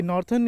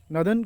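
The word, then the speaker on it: Northern: Eastern coalfield limited, western coalfield limited, नॉर्थन, ये नॉर्थन इसको नहीं प्रोनाउंस करते हैं, नॉर्दर्न coalfield limited, नॉर्थ west coalfield limited.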